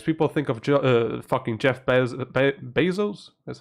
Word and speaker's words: Bezos: People think of fucking Jeff Bezos.